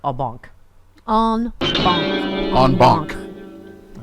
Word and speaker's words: en banc: Almost as much as I like en banc. En banc. En banc. It's two words. It's just fun to say. It's 2 words. And it's spelled B-A-N-K. Q. C. C. En banc. Yeah. Not bong.